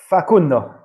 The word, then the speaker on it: Facundo: How am I pronouncing his first name correctly? Pellistri. Facundo.